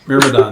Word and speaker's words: Myrmidon: Myrmidon. Myrmidon.